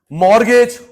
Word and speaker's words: कोलटरल मोरगेज: मोरगेज मत बोलो गिरवी का एक नाम और कोलटरल मोरगेज इसमें टी साइलेंट होता है गोल्ड रखा प्रॉपर्टी